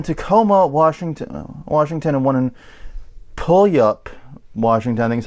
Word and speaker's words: Puyallup: One in Tacoma, Washington, and one in Puyallup, Washington. I think is how you say it. I'm guessing. I've never seen that collection of letters quite. It's Puyallup.